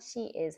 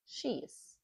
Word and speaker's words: she's: So she's, make sure when you read apostrophe S or whatever, you're saying it as one syllable. It's not she is having, it's she's, which is short, the contraction for she is.